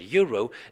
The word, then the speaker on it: euro: you will notice that the first letter that comes out of your mouth when you pronounce the word euro is not a vowel but it's the Y and this is the